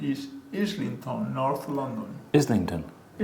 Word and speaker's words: Islington: Islington. Ton. Islington. No stress on the tongue. It's schwa. Islington.